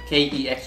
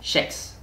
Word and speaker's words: kex: It says K-E-X, right? And people say kex, right? But where I'm from, Gothenburg, we say it differently. The K becomes like a sh. Can you pronounce it? So this would be, instead of kex, it becomes sheks.